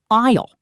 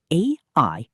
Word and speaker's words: aisle: That is called an aisle. The word is spelled A-I-S-L-E, but we say aisle. The S is silent.